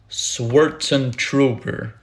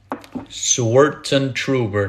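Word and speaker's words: Swartzentruber: say your last name my last name is swartzen trooper swerten trooper that's how you say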